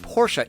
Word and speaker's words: Porsche: say hey Porsche but come on people it's pronounced Porsche it's the guys name I can't fully grade